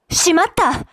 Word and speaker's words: しまった: of shimao shimata today as the past tense of the flat verb should be pronounced with a flat style so shimata Mata foreign by